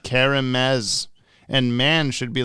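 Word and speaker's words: Kerem Maz: K-E-R is pronounced like Carol.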